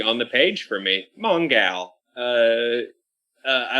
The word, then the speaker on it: Mongal: gladiator battles and then i realized i was pronouncing her name wrong and she's mongal yeah because she's a gal and that's the best name maybe on the page for me mongal uh i like the